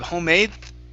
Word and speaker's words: homemade: You can pronounce the D, but you don't have to. We can do what's called a stop D, where your tongue comes up and it stops at the top of your mouth.